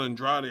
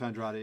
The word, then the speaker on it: Andrade: Like, you got Andrade, I believe that's how you pronounce his name. Demetrius Andrade, yeah.